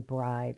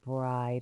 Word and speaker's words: bride: The magic E syllable, because that E again, it's silent but makes the vowel a long vowel sound. Like in bride. So the example they're using for VCE is bride, which makes the I a long I sound.